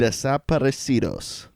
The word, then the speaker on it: Desaparecidos: I've never realized how badly I've butchered that. I'm glad to have heard that properly said. Desaparecidos. That's pretty good. It's a little bit more Italian, but that sounds good.